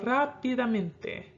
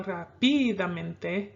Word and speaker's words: rápidamente: This word is going to be on the 5th to the last. So rápidamente. Okay? You don't go rápidamente, you go rápidamente, rápidamente.